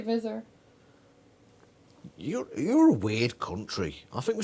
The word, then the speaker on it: Visser: Visser, as if it was Zed's. American. Is that what Americans do, is it? I say Vizor.